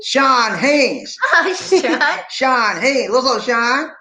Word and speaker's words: Sean: Scene. Sean Haynes. Oh, Sean. Sean Haynes. What's up, Sean? Nice scene. No, it's not Scene, Lisa D. It's Sean. That's how we pronounce it. It's Sean. SHAWN. Sean. Hello.